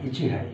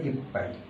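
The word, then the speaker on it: 一杯: তো 1 গ্লাস যদি পানি হয় তাহলে উচ্চারণটা হবে ইচি যোগ হাই, ইচি যোগ হাই, ইচি হাই, কিন্তু উচ্চারণটা হবে ইপ পাই। ইচি এবং চি এবং হাই এটা যোগ হয়ে ইপ পাই, উচ্চারণটা চেঞ্জ হয়ে যাবে।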